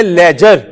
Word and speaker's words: ledger: लिखने का नाम है लेजर। क्या? हेडिंग बनाओ लेजर। आगे वालों ने डरना नहीं है किसी भी वक्त। लेजर। बच्चों प्लीज, लेजर, इसमें डी साइलेंट है, LEDGER, क्या बना? लेजर। नया पेज लेना शेखो।